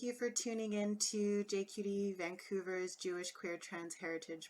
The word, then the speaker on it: JQT: Hello everybody, and thank you for tuning in to JQT Vancouver's Jewish Queer Trans Heritage Month. My name is and I help run JQT Vancouver. Pronounced JQT, we are a secular, culturally